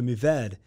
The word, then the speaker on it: Mourvèdre: So Mourvèdre. I drop those R's when I pronounce it, kind of like that famous museum in Paris. Yeah. The Louvre. Same deal.